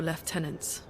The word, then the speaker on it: lieutenant: Lon actually said left tenant instead of lieutenant. That's how that's how you know this is a European game. They actually pronounced it the uh British way.